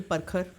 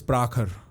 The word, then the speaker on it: Prakhar: I'm sure lots of people call you perkar. No, not perkar. Perkar is a more fidabad pronunciation for my name. Uh in the west it's prahar or prahar or one of the two.